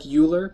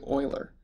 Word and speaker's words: Euler: you notice how it it looks like uler but it's actually Oiler that's just the way it's pronounced so there's several different